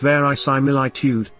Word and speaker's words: verisimilitude: Aside from being fun to say, verisimilitude, pronounced verisimilitude, simply means the quality of resembling reality and